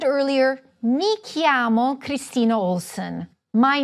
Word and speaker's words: chiamo: I said earlier: Mi chiamo Kristina Olson. My name is. Literally: "I call myself." Repeat after me: Chiamo. It is a hard "c" sound because it is followed by an "h."